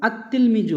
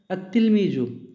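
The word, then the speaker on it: التلميذ: তিলমিজুন, এর আগে আল যোগ করলাম, আর তিলমিজু হলো। পার্থক্য কী হলো, তায়ের আগে আল যোগ হলে লাম উচ্চারণ হবে না, তাই লাম উচ্চারণ হয়নি,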